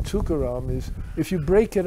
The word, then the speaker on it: Tukaram: And the thing about the name Tukaram is, if you break it up, which nobody does, but it's 3 syllables. Tu-ka-ram.